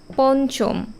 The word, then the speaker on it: পঞ্চম: এটার উচ্চারণ কেমন হয় দেখো পঞ্চম ন এর উচ্চারণ হচ্ছে আবার লাঞ্ছিত বা রঞ্জন অথবা ঝঞ্ঝা এই প্রতিটা শব্দেই দেখবে ইয় আছে কিন্তু অথচ আমরা উচ্চারণ করছি ন কাজেই যখন আমরা উচ্চারণ